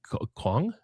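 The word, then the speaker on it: qong: In Klingan, the verb to sleep is Kong. Uh, I can't spell it.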